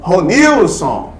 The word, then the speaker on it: Ronilson: Perceba que se eu fizesse assim, ó, Ronilson! Perceba que Ronilson. Então, ou seja, eu não posso falar Ronilson. Eu não posso falar Ronilson. Eu falo Ronilson. Então você vai perceber que a sílaba tônica Ronilson é um nil.